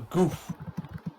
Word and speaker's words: Gouf: Yes, there's another mobile suit that I really enjoy its design, and that's the Goof. Basically, yes, it's spelled Gouf, and it's basically a slightly bigger version of the Zaku, just by like a meter or so.